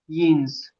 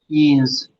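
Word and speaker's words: Jens: बट इसको pronounce कैसे करेंगे? यीन्स। यीन्स। या और फिर ई की मात्रा।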